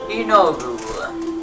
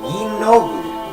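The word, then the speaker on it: Yeenoghu: Inogu. Yinogu.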